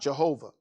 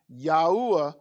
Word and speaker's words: Yahuwah: name alone and there's there's no jay and there's no v so it's not jehovah but his name alone yahuwah are the most high